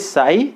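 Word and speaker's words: Ψ: अब यहाँ पे इसको कैसे प्रोनाउंस करेंगे, this is साई and this is एस, तो यहाँ पे साई और एस, तो इसको ओपी को साई एस बोला जाएगा, या फिर बोल सकते हैं साई पाई, पाई साई पाई, और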